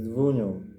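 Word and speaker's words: Wunjo: It is rune W, meaning joy, and translated as Vunyo, pronounced as Vunyo, W.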